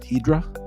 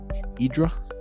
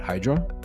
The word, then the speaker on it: Hydra: Uh, and by the way, locals and euros pronounced it Idra. Idra, uh, not Hydra, but Idra is Leonard Cohen's island, uh, for context.